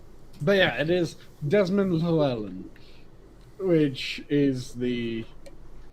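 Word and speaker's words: Llewelyn: as long right but yeah it is desmond lauerland which is the name of the actor who was absolutely brilliant and i still say they should have retired q when pluellen died oh definitely that replacing him was an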